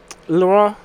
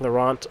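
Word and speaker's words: Laurent: Victoria and laurant um lauron I think is how it's actually pronounced but I'm going to pronounce it like laurant because I am an American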